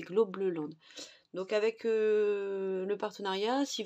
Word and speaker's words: Globleland: ça s'écrit globe lente c'est pas globe land c'est globe le Land donc avec le partenariat